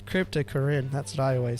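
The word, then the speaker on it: Cryptocoryne: Cryptocorine. Oh. Cryptocorine.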